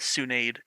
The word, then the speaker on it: Tsunade: your room and here my name is Tsunade henceforth pronounced as tsunaide she grabbed a map